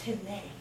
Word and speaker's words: Tina: It's pronounced Tine.